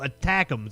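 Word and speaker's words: ATACMS: have my back a TMS so attack thems that's how you pronounce the acronym do you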